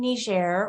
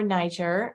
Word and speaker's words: Niger: is uh this is in ner or Niger uh depending on how you prefer to pronounce it um and the thing